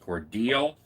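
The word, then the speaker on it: Cordele: the rv park in cordell which somebody told me is pronounced cordial georgia and we had that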